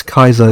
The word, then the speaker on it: Caesar: lucanus would be lucanus because they had no soft sea sounds just like Julius Kaiser is the correct name of Julius Caesar I actually can't really